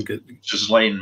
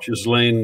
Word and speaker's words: Ghislaine: Ghislaine Maxwell. Ghislaine Maxwell.